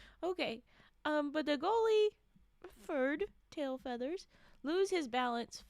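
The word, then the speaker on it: Ferd: I'm telling you now it's spelled f e r d fur not Fred fur and then and then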